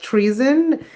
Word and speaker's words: Treeson: So the musical that is focused on climate change and climate activism is called Treason. It's spelled Treeson, which is a play on the word treason, Treason, because it's a musical about betraying the planet and betraying the forest.